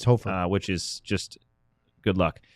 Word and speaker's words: Hofer: Hofer is how you say it? It's Hofer.